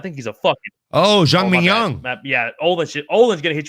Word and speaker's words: Zhang Mingyang: Clash New Beat says, what do y'all think about Mean Gang Zhang? Bro, I think he's a fucking... Oh, Zhang Mingyang.